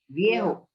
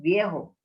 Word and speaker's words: Viejo: Spanish में J is pronounced as H. El Viejo. Viejo. It is pronounced as Viejo.